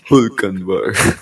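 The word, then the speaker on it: Hülkenberg: pronounce it Hulkenberg.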